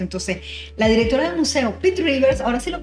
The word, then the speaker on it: Pitt Rivers: Entonces, la directora del museo, Pitts Rivers, ahora sí lo pronuncia bien, Sí.